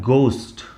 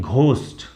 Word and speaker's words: ghost: जैसे ये शब्द है GHOST, इसका इंग्लिश में इसका सही प्रोनाउंसिएशन होता है गोस्ट। गोस्ट, इसको ज्यादातर लोगों को मैंने सुना है इसको बोलते हैं घोस्ट।